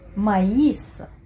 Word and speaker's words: maïs: le crémant le crémant donc ici le tréma ans l'utilisent pour pour indiquer qu'il faut lire qu'il faut prononcer la lettre e i séparément aussi la la voyez qui la pressait écoutez je vais prend on sait la lettre y envoyait séparément et aussi la voyelle qui a un séparément maïs maïs faïence faïence on va détailler tout